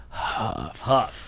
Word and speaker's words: Huff: Huff. Not tough. Not tough. It rhymes with tough.